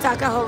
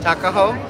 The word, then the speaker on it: Tuckahoe: Tuckahoe Road. Tuckahoe?